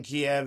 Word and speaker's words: Kiev: It's like no, it was always Kiev. Like we don't call it chicken kev. It's chicken Kiev. It's spelled the same way. And I don't care if that's how they pronounce it. That's how we pronounce it over here in America.